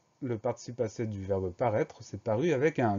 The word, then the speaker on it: paraître: Le dernier mot, c'est le mot paraître. Première syllabe pa, P-A. Deuxième syllabe ré, R-A-I. Alors attention, le son est s'écrit AI.